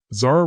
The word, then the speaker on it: Zara: Zara rhymes with star.